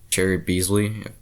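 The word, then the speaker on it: Cheri Beasley: be honest the only one maybe is like cherry beasley that's how you say it but apart from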